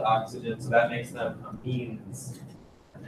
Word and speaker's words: amine: Amide with a D, amine with an M. These are not next to carbons with double bond to oxygen, so that makes them amines.